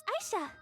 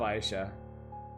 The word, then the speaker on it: Ayesha: Yeah, she calls herself Aisha. I'm going to call her Aisha. That's how it's spelled. That's how I'm comfortable saying it. And the video game itself goes back and forth on it.